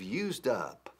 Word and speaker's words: used up: As I've used up. Used up. Fijaos cómo lo pronuncio. Used up. Used up. Uso la D de used como trampolín hacia up.